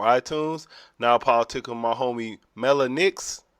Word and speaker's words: Mellah Nix: our app on iTunes Now political my homie Mela Nick is how you say your name I say it right Mela yes Mela Nick so what does that mean that's unique name